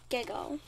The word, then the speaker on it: GIGO: language there's a term called gigo that's pronounced giggle or yeah it stands for